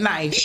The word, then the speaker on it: knife: Knife the K is silent.